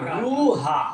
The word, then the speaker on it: রুহা: রয় হস্যু হয় আকার রুহা রুহ ঠিক আছে কোন কোন জায়গায় বাংলায় যারা ইতিহাস লিখেছে তারিখ লিখেছে তারা লিখেছে র আকার ও হয় আকার রও হাহা কিন্তু আসল উচ্চারণ হবে রু হা রওহানা রুহানা এই রুহা